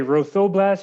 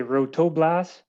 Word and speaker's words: Rothoblaas: great and so um do you say rothoblast is that how you say it you can say row the blast you can say rotoblast as long as you're saying it we're happy perfect so they've generously